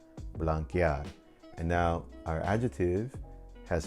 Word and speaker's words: blanquear: because then I'd have blancear. That would be the wrong pronunciation. To maintain that hard K sound, we change the C to QU before adding EAR, blanquear.